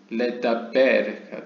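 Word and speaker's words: לְדַבֵּר: 그러니까 일반적으로 그냥 영어 say에 해당되는 로말 혹은 아말 이거는 이제 그냥 고요하게 이제 평온하게 그냥 발음이 되죠. 근데 레다베르는 아무래도 PL 형태여서 그런지 모르겠는데 여기 다게시도 있죠. 그래서 레다베르가 됩니다.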